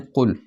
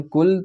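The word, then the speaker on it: قل: जानते हैं कहो से लेकिन कुल को अगर हम कुल प्रोनाउंस करेंगे काफ से करेंगे तो उसका मतलब बिल्कुल फर्क हो जाएगा कुल का मतलब खाओ खाओ अल्ला एक नाज बिल्लाह जबकि कुल हु अल्लाह अहद का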